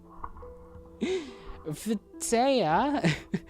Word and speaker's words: Phthia: Trechis, and those of the how do you pronounce PTH? No, PHTH. What is that sound supposed to be? Phthia, those of Hellas, lands of lovely women.